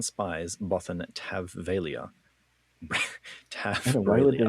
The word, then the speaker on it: Fey'lya: If it's Fey'lya, and this is spelt similarly, Fey'lya or Fey'lya? The audiobook says Fey'lya. Fey'lya. Not that that's correct, but that's just how I've heard it before. Fey'lya. Yeah, we'll go with that. Han spies Bothan Fey'lya.